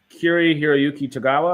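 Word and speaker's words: Cary-Hiroyuki Tagawa: to Kiri Hiroyuki Tagawa, I think is how you say it.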